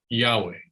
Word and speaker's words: Yahweh: actually why HWH in English we choose to pronounce the word Yahweh Germans and bultman was a German uh would